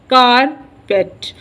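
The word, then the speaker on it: carpet: second वे stress है एंड का इ pronounced with stress on the first label कार कार पेट कार के ऊपर फर्स्ट लेबल प स् स्ट्रेस है और इसके सेकंड वाले पे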